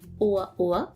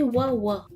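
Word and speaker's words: 'oa'oa: Oa Oa a les glottales, pour bien le prononcer Oa Oa. Sans les glottales, ça se prononcerait Wa Wa, qui veut dire étroit.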